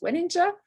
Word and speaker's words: Weninger: It's my pleasure to introduce to you Csilla Weninger, who is also happy for her surname to be pronounced as Weninger. So she's very okay with different pronunciations, she told us earlier.